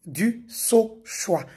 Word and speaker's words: Dusauchoy: Ces derniers temps, vu que je suis beaucoup cité, chacun y va avec sa prononciation. Je suis du saoix.